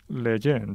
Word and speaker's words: Lejeune: y vitoria con la fundación Jerome Leon le pronuncia bien leen sí leen y además has compaginado esto con